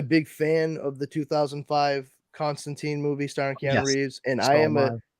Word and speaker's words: Constantine: well let me rephrase John Constantine hellblazer because Constantine is actually how the name is supposed to be pronounced I did not learn that until recently